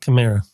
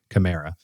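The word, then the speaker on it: Kamara: I'm hoping uh is it is Alvin Kamar or Camra? How do you pronounce his last name? Uh Chimera. Chimera.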